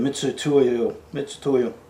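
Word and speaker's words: Mitutoyo: I got my old Mitsutoyo, I don't even know how to say it, Mitsutoyo.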